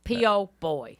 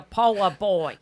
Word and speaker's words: po' boy: pushed into a dialect, but that's how they spell it down there. P-O, boy. And that's a Yes, person as a paragon of proper pronunciation, she does not like to say po boy. He's a poa boy.